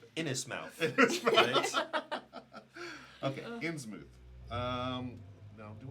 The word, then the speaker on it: Innsmouth: I'm going to getting the Innsmouth game. Mhm. And that's Okay. So that's that. That goes to you. The mouth in In's mouth is pronounced mooth.